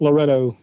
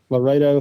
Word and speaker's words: Loretto: Loretto. Yeah. Loretto. Or Laredo, however you want to pronounce it.